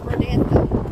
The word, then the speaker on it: Rodanthe: Okay, Sandra and I are in, how do you pronounce this area? This is Rodanthe.